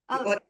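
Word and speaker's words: Ohtli: Otley Award.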